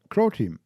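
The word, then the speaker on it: Croteam: I mean, Crow Team, a Croatian independent Okay, studio. not Ukraine. Sorry. Rhymes with Bro Team.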